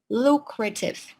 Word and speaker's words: lucrative: And we got the word lucrative. All right, lucrative. That you can find in paragraph number 2. Right, lucrative. The stress falls on the first syllable.